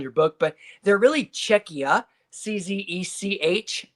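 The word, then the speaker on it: Czechia: You'll see Czech Republic on your book, but they're really Czecha.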